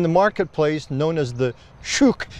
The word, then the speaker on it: shuk: marketplace known as the shuk now I can say it that way as a Scotsman but then I've been corrected by Americans say it's not shook it it is shook well here's that story